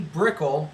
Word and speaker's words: Broeckel: Second Girl Gear tester, Tracy Broeckel. Rhymes with pickle, I'm told.